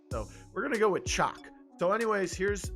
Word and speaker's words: Chaac: guide uh and uh i pronounce it chalk i think pretty sure that's how you say it most video games actually